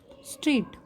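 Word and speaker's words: straight: Second है स्ट्रेट, स्ट्रेट, जब मैं स्ट्रेट बोलती हूँ तो देखो स्ट्रेट, ट, ये जो G और H है इसका साउंड यहाँ पे नहीं आया। जब मैंने स्ट्रेट वर्ड को प्रोनाउंस किया तो G और H की साउंड नहीं आई, मैंने बोला स्ट्रेट, तो G और H साइलेंट है, ठीक है।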